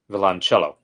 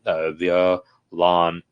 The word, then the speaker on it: violoncello: But via, the via is sort of one syllable. The I and the O kind of are a diphthong a little bit. Violoncello with the accent on ch. Violoncello.